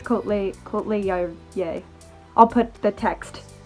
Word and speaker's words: Kohtla-Järve: but I believe it's Kohtla-Järve. Kohtla-Järve. I was saying Kohtla-Järve, and they kept laughing at me. The students did. So I think it's Kohtla-Järve.